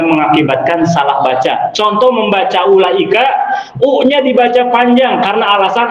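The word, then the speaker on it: أولئك: Tapi menurut ilmu rasm, wawu pada ulaika itu cukup ditulis namun tidak perlu diucapkan. Cek ilmu rasm gitu. Wajib ditulis tapi tidak perlu diucapkan. Makanya hasil bacanya pendek.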